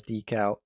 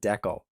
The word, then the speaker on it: decal: quirks with our dialect and also refer to them both as decal and decal, depending on your region. Regardless, either pronunciation is fine, and you should prepare yourself to hear it both ways, as my accent might